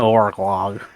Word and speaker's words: Orlog: You have to push your tongue into like the back of your throat in order to say it correctly.